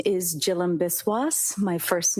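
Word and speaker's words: Jhilam Biswas: Yes, my name is Jill Biswis. My first name is spelled J H I L A M.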